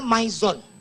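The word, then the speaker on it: MyZone: penting banget ini namanya My Zone Jangan pernah nybut Mi jangan pedagang asongan suka gitu suka gua ingetin tuh My Zone kalau I ketemu dalam bahasa Inggris itu dibacanya i ya jadi My Zone Oh My Zone My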